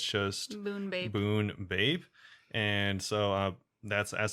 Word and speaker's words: Bunebape: i just say oh it rhymes with runescape yeah so it's kind